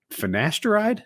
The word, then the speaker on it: finasteride: think you know what would really benefit you finasteride did i pronounce it right yep how do you say